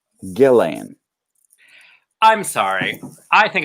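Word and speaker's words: Ghislaine: to gelane maxwell because we have been mispronouncing her name this entire time and calling her jizzling when it is gillane i'm sorry i think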